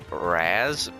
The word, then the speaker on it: Raz: move up to sandbags they pronounce his name Raz but honestly I am